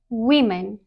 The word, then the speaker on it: women: Correct pronunciation versus common incorrect pronunciation. Number one, what is it? Is it women or woman? It is women.